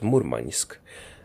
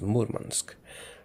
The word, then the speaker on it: Murmansk: I always called it Murmansk, but apparently it's pronounced with a hard N as Murmansk. At least that's what I've been told in the comments.